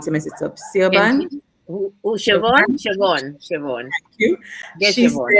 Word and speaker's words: Siobhan: And I think it was, I can't pronounce her name. I don't want to mess it up. Siobhan? Siobhan.